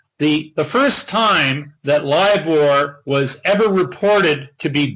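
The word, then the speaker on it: LIBOR: everybody's heard about uh everyone's heard about how liore uh was allegedly rigged everybody has probably heard about how lior was either broken or it's been fiddled with and the the first time that liore was ever reported to be broken or there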